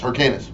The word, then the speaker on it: Hyrcanus: As for Hyrcanus, I'm saying it right? Yes, Hyrcanus.